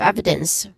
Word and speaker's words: evidence: Um and the stress syllable would be on the first syllables of those words. In growing, we got grow. That's the stressed syllable in body and in evidence. Again, ev.